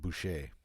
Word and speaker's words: Boucher: It's actually Bush with a C and an E at the end. So Dude. it's pronounced Boucher.